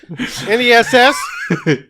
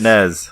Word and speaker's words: NES: NESS? NES. Is there reading? Ness. The correct So on pronunciation. NES and NES people are fucking wrong. Yeah, it's NES. It's NES. With a soft Ness, N. not Nez.